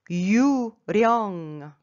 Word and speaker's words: 유령: Ici, la lettre L, il faut rouler. Pourquoi? Parce que devant lui, à la première syllabe, tout en bas, il n'y a pas d'autre L. Quand la lettre L est tout en haut et que cette lettre n'est pas suivie par une autre L, ça se prononce R.